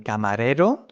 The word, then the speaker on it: camarero: In this case, the R is stronger than camarero, so this R is different, right? You see camarero, the rolling R is soft.